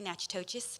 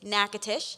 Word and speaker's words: Natchitoches: heard of an aquatician I was very quickly pronouncing it incorrectly Natchitoches but it is nakatish the French established Natchitoches